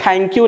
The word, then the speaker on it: thank you: So many people pronounce it th. Please listen to me very carefully. This is not th. Thank you नहीं बोलते. It sounds very awkward. You should say thank you. Thank you. Your tongue should touch the upper ridge, right? And then you should pronounce it.